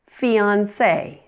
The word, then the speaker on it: fiancé: Words that have been borrowed from French pronounce the final E as A. For example, resume, café, fiancé.